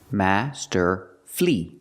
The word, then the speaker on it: masterfully: it's not for syllables we pronounce it with three syllables Master flee flee the last syllable is flee not F but flee Master flee Master flee put the stress on the first and third syllable Master fle masterfy if